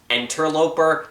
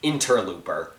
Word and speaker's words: interloper: It's because when I talked about Half-Life, I mispronounced interloper as interlooper.